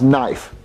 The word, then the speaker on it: knife: pronounce it cut not Jeffy the K is silent you won't you I